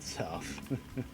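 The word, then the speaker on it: Sowth: Of course, it's not spelled south, it's spelled south with a W.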